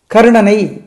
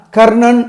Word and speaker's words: கர்ணன்: கர்ணன் அப்படின்னு சொல்லுவாங்க ஏன்னா கர்ணன் அப்படின்னா கர் கருக்கு அடுத்த நா வந்து மூணு சுழி நா மூணு சுழி நா வந்து நாக்கு பின்னாடி போய் தொட்டு உச்சரிக்கணும் அது கொஞ்சம் சிரமமா இருக்கும்